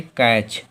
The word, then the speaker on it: catch: तो उदाहरण के लिए देखो CATCH, शब्द के अंत में TCH आया तो हम लोगों का T साइलेंट होगा। इसे क्या पढ़ेंगे? कैच, कैच, कैच।